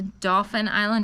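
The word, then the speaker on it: Dauphin Island: we did go to Dolphin Island Alabama and not dolphin like the the dolphin but it's spelled d-a-u-p-h-i-n um very very nice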